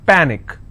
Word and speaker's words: panic: so let's break this panic is per nick which means i will stress on pa and it's pronounced that panic tragic trick i will